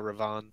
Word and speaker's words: Ravana: Do not pronounce the last A.